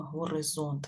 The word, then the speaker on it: горизонт: тепер давайте з вами зробимо звукобуквений аналіз слова горизонт визначимо які там голосні та приголосні і для того почнемо з вами з наголосу і так горизонт горизонт на яку букву